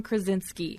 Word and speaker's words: Krasinski: How does he pronounce his name? The Office guy? John Krasinski.